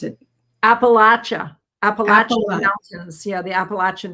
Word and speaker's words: Appalachian: And they said when I went to those regions, they said and if you don't pronounce it properly, Appalachian, they'll throw an apple at you.